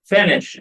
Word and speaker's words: finished: Finished. الإي دي هنا هتنطق إيه؟ هتنطق T.